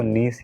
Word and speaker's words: niche: अब एक और प्रॉब्लम यहाँ पे आती है कि इसको नीश बोला जाता है या फिर नीच बोला जाता है।